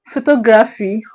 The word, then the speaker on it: photography: We have photography.